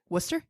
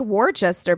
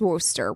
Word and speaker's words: Worcester: for sure because yeah it's spelled like War Chester but it's not a workcaster but it's not that it's Wooster Worcester whatever Massachusetts for grad